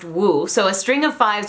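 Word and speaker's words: 五: Fun fact, in Chinese the number 5 is pronounced wu, so a string of 5s would be woo woo woo woo woo, which is actually their equivalent of boo-hoo.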